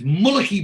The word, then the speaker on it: Mulcahy: um so and then barry pronounces it again differently says who is this brendan mulcahy anyway and um and moxie goes it's moloki barry having already pronounced it properly in the supermarket so again bit of